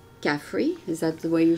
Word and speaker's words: Khafre: Caffrey? Is that the way you say it? It's like coffee that's free. Caffrey. Coffee. Yeah, yeah. Coffee. You don't pronounce really the R? No, it's in there. Caffrey.